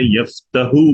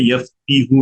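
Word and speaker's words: يفتح: کرنا کہ اب جیسے فتح کا مضارع یفتحو بولتے ہیں، یفتیحو نہیں ہوتا، اس کے پیچھے کوئی لاجک نہیں ہے، ٹھیک ہے؟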